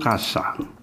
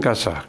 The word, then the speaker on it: casa: Di rumah itu nah, rumah itu casa. Bacanya casa ya, bukan casa, casa. Dibaca seperti K.